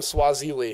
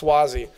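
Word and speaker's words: Suozzi: my colleague swathes what how do you say his last name Zack Swasey that's I always call him Swahili its Swasey but we have a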